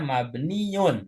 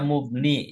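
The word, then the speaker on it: مبنيّ: Perhatikan cara bacanya mabniun ya, harfu jarin mabniun. Yung ala Nah, sukun. kalau tadi Bu Aida sempat baca mubni. Ya, ini saya luruskan Bu. Cara bacanya mabniun.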